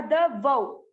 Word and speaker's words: द्वौ: द्वौ, आधा द, वौ, द्वौ भूत सर्गौ लोकेस्मिन्।